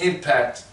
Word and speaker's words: NPPAC: So reading from the paper, it says the National Plantation Psychosis Awareness Committee, the NPPAC, pronounced impact, defines plantation psychosis as a fundamental mental derangement.